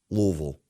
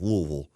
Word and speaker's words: Louisville: my proper pronunciation Louisville Louisville sounds like I got marbles in my mouth Louisville Louisville Kentucky Louisville Louisville